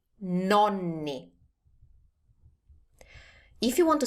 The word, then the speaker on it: nonni: Together, the grandparents are nonni. Nonni.